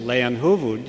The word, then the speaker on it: Leijonhufvud: And it's really very simple, Leijonhufvud. You've heard it several times already. It's a Swedish name, a name that quite simply means lion's head.